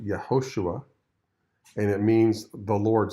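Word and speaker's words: יהושע: does Joshua's name mean in Hebrew well it's pronounced yahushua and it means the Lord saves who will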